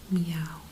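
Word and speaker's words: miauw: Well, Danny, a cat goes meow, which is basically the same as it does in English, but it's spelled differently. In English, you would spell it M-E-O-W. In Dutch, it's M-I-A-U-W.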